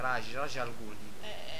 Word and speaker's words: Ra's al Ghul: Raj lo dicono qua, Raj al Ghul.